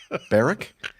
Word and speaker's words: North Berwick: for a ah man let me start over baric yes bar so the W is silent then okay yep okay uh